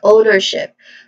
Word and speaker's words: ownership: When it comes to pronunciation, ownership starts with a diphthong sound O, and then followed by ner, which has a schwa sound in the middle, and then ship, which has a short E vowel sound. So all in all, the pronunciation of this word is ownership, with the first syllable being stressed.